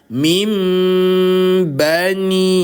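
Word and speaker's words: مِنْ بَنِي: Tidak lagi bilang min bani, tapi bilang mim. Bani Israil.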